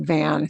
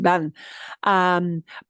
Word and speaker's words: van: Boy, but don't pronounce it like van. See? Voy vas, vamos, vais, van.